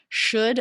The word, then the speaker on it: should: vowels or diff thongs the L is silent here so it comes between